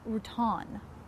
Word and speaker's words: Routan: by the way zach is actually pronounced route on route on your tan whatever you know what